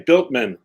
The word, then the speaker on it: Bueltmann: You say Bueltmann, like you built a house. Okay, yeah. Bueltmann.